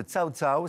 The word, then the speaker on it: Cao Cao: Vous êtes la vice-présidente de Cao Cao, ça se prononce comme ça.